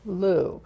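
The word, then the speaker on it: Liu: Lou. Lou.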